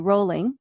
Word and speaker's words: Rowling: dinner and I said r o w is pronounced row yeah it is why do we say Rowling and it's that L because growl exactly yeah so JK rolling um she mentioned that